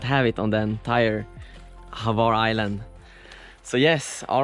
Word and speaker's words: Hvar: Hvar!